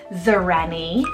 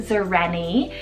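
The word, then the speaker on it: Xareni: I have Zareni, spelled X-A-R-E-N-I, Zareni. This one's a completely modern invented name, meaning a princess of the woods, guys. Zareni.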